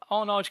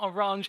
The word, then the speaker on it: Arnage: been recently informed that we were correct with regards to the pronunciation of Arnage competition. It's not Orange, indeed a bit of